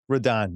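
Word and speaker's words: Rodón: Um, Roden is left-handed. Rodon, you got to use the pronunciation.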